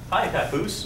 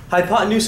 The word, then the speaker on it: hypotenuse: say hiot hot H hi Papoose no not high Papoose we have no papes hi pot and hypotenuse looks like hypotenuse like the pots in use but no what's happening there the hypotenuse is how you say that word hypotenuse is defined as